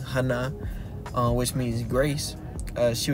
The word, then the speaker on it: Hannah: uh Hannah right which her name being pronounced in Hebrew is Hana which means Grace uh